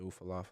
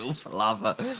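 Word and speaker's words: Ula Fala: to come after the Ufalafa man. Say it right. Stop calling it the Ufalava.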